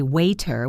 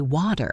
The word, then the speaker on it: water: But often when a T is between two vowel sounds, it becomes what we call a flap T, which sounds very much like a quick, soft D. Think about the word water. We do not usually say waiter with a hard, sharp T. We say water, water. It is smooth.